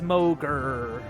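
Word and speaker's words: Mogr: then to mogger or mocher bow I already forgot how you pronounce it now I get to look okay it is mogger who tells you dredge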